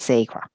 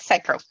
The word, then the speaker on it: sacral: Energy Center Orange and I pronounce it Sacra am I correct Tamara Michael yeah very close sacral yeah okay what happened